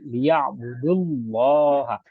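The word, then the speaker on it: لِيَعْبُدُوا اللَّهَ: Kalau cara membacanya ini langsung sebetulnya disidahkan ke lam ya budullah, wawunya hampir nggak kedengaran, alifnya pun tidak kedengaran. Cara bacanya langsung saja kepada lam yang pada kalimat Allah, jadi liya budullah, wawunya tidak menjadi mad, alifnya tidak menjadi mad.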